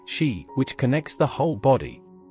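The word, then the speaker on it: 嘻: 11, pronounced like shi, which connects the whole body.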